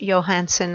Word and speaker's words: Johansson: stunning this artist Eric I think it would be pronounced Johansson I think he is Swedish